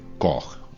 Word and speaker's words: Koch: está en deuda con Robert koch o koch como lo solemos pronunciar por aquí en España este médico alemán se